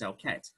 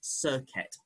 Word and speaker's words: Serket: We go by approximation via Coptic, which is the closest language that's still around for it. So I use as close as I can, and that is Serket.